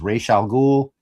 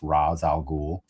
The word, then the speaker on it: Ra's al Ghul: the Animated Series had decided that they must have done research to learn the appropriate way to pronounce the name as Ra's al Ghul. And then this is the first time that character has ever been referenced in a movie out, and it was kind of weird to hear his name be pronounced Ra's al Ghul. It sounds very Western, like the way, like your paper.